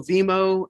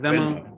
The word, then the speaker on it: Venmo: the other piece you want to look at is also Vimo and or am I saying it right? Venmo, Venmo.